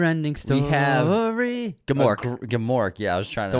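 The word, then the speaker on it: Gmork: before we get attacked because it's spelled GM o RK and gamor is this awesome terrifying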